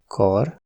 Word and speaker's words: kar: La longueur des voyelles est très importante, comparez : örült (il s’est réjoui), őrült (fou) ; kar (bras), kár (dommage) ; Eger (le nom d’une ville), egér (souris).